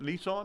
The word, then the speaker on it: Nissan: And she say Nissan. How do you say it? Nissan. Like it's N A S A W N. W. You got to throw the W's in there.